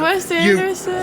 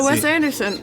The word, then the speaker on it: Wes Anderson: So um the West Anderson. You had practice and you still didn't say it right. She said it right. The Phoenician scheme. The Phoenician scheme. She had it right. The Wes Anderson the new Wes Anderson movie.